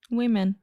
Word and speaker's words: women: How do you say one lady? Woman. Woman. And more than one? Women. Women. Yeah.